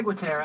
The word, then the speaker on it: Ciguatera: Yeah, Ciguatera. Ciguatera, yeah. Different pronunciation.